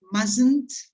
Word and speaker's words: mustn't: notes on pronunciation right mustn't uh t is silent okay you write it but you don't pronounce it okay well let's see